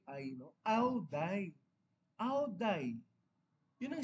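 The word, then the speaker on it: áo dài: I went there no someone corrected me it's not die It's away. So ang pronunciation pala nila sa DIY. So away pala ang basa doon.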